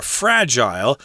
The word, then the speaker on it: fragile: Fragile or fragile, American pronunciation is fragile, which means easily broken.